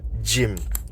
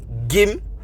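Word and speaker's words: gym: g y m j you start to here is not g anymore it's not that hard G sound it's a sof sound which is J so it's not gim but it's Jim another word can be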